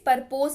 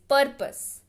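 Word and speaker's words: purpose: पर्पस यानी कि उद्देश्य, इसको प्लीज परपोज मत पढ़िएगा, ठीक है, इट इज पर्पस, पर्पस, ठीक है, यानी कि उद्देश्य।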